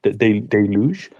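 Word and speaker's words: deluge: This is I think basically look I have been preparing for a de deluj deluj is the usual pronunciation.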